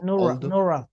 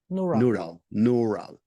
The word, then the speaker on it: neural: No, So neural. neural. Yes, Okay. N-E-U is pronounced nu. Like when you say neurotic, neurosis, pneumatic, neural, neutron.